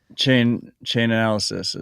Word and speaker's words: Chainalysis: Chainalysis is, yeah.